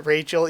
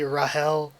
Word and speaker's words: Rahel: the community pronounce that rachel even though it should be rahel or like they say in the anime even um but yeah